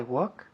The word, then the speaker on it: walk: I walk where he walks. Good. Walk. La L no se dice.